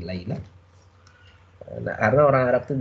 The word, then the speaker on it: Laila: Laila kalau orang Arab bacanya ini Laila.